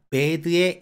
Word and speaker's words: bad: 하지만 실제 발음할 때 에를 짧게 발음하면 원어민이 못 알아듣습니다. 장모음화 현상이 무조건 적용되기 때문에 bad 하고 길게 발음해야 되는 거고요.